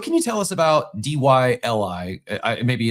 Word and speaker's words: DYLI: It's pronounced dilly.